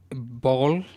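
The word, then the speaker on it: Bollé: yeah there's another company ball b-o-l-l-e I don't know how to I think it's pronounced ball so now it lets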